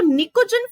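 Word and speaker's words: pnictogen: दिया जाता है, इसको निकोजन फैमिली भी कहा जाता है। ठीक है, क्या कहा जाता है भाई, निकोजन फैमिली। स्पेलिंग पैनिकोजन हो सकती है, तो भाई इसको पी जो होता है साइलेंट होता है, तो निकोजन फैमिली के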